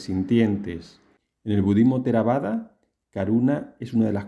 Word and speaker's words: karuṇā: Según las reglas de pronunciación sánscrita, sería más o menos así su pronunciación. Karuna.